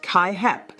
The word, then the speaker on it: CAAHEP: Your educational program must be accredited by CAAHEP, pronounced KaiHep, the Commission on Accreditation of Allied Health Education Programs.